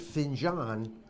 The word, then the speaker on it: Finjan: probably on NASDAQ and now I pronounced it Finn John because we have a little conversation prior to coming on camera and give us a